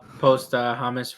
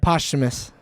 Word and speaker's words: posthumous: It says on a wiki too, post Hamas release, or how do you say that word? Posthumous.